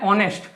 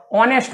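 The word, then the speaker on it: honest: लेकिन यहाँ पे एच का वो साइलेंट है, एच यहाँ पे प्रोनाउंस नहीं होता है, यहाँ प्रोनाउंस होता है अ, ऑनेस्ट बॉय।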